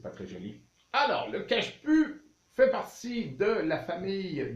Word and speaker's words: cajeput: Bonjour, aujourd'hui je vous parle du secret du baume du tigre, soit l'huile essentielle de cache-pu.